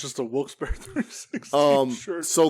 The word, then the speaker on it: Wilkes-Barre: names Wilkes and Barry it is technically pronounced Berry I say Wilkes-Barre I